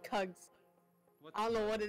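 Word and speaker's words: Kuggs: I forgot Eagles dyslexia because Eagles spelled my name wrong Cubs what it's called kugs I don't know what it is but how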